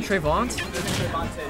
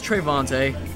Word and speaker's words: Trevonte: me ask you hey how am i pronouncing your name trevont trevonte thanks all right so it is treyvontae half of you were right all right we